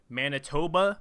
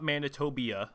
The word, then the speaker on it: Manitoba: We saw Bulgaria join the Confederation along with Manitoba, not Manitobia.